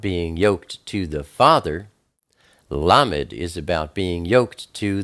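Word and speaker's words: ל: Then we have Lamed. Lamed is the number 30. It's pronounced L like love.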